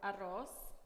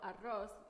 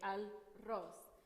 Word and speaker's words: arroz: Like some of them you don't pronounce the al, you just go in, you skip the l, and then you go into the third letter. For example, arroz, it's usually say al-ros.